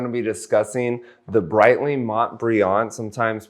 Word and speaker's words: Montbrillant: Today we're going to be discussing the Breitling Montbrillant, sometimes pronounced Montbrilliant.